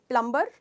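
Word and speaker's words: plumber: प्लम्बर, right. क्योंकि हम generally हर letter को प्रोनाउंस करने की कोशिश करते हैं, पर इसमें बी साइलेंट है।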